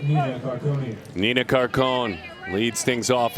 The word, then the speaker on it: Carcone: Now, anytime you see C-A-R-C-O-N-E, one would think Carcone for the Florida commit, but she did put C-A-R-C-O-N-E for the pronunciation. To me, that's Carcone, correct? We're going to go with Carcone.